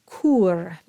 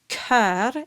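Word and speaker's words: cœur: they read it as cure so what you want to imagine if it helps just cross out the O and read it as c e u r or better yet k-e-u-r Kar and make sure that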